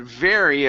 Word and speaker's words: very: Um, we had the word very a couple times here. Each time you you had said very Okay. Give me a good R here.